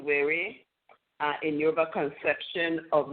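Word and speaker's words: were: and it says w-e-r-e but you know it's pronounced wary uh in your conception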